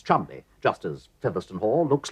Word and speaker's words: Cholmondeley: It's pronounced Chumley.